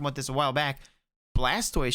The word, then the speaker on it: Blastoise: Actually, Nox, when we were talking about this a while back, Blastoise should actually be Blastus. Right, because it's a tortoise. Yeah. You don't say tortoise.